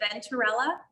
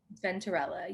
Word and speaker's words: Venturella: last name wrong but is it venturella venterella you said it oh perfect hi ari